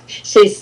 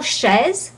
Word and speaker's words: chez: First of all, chaise. If you say chaise, I'm going to understand chair.